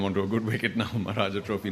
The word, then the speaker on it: Maharaja Trophy: I was told, because I got the name wrong, sort of, by accident. So I was rapped on the knuckle as I do in schools and said, Maharaja Trophy, Maharaja Trophy, Maharaja Trophy. Say it thrice.